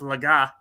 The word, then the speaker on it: Legas: up here and and launched the podcast saying Cooper Legas so it's laga well you know what